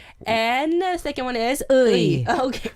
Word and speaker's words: 의: And the second one is U and I. U plus I. So 의. Right.